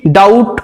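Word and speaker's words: doubt: ডেভড নয় ডিইবিটি date ডিওইউবিটি ডাউট আমরা প্রত্যেকেই বলে থাকি ডাউট কিন্তু বি থাকবে এখানে ডাউট।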